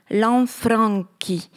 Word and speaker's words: Lanfranchi: Seuls les Italiens savent dire d'instinct ce nom, Lanfranchi, où le N, muet en français, doit s'entendre, où chi se prononce qui.